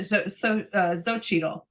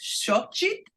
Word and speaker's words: Xochitl: She pronounces it Xochitl.